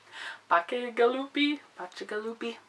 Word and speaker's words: Bacigalupi: Bacigalupi.